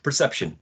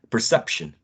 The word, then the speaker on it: perception: But sometimes it doesn't have a higher pitch, but it's definitely louder and longer than the other syllables. Take the word perception, which is already here. Perception, perception.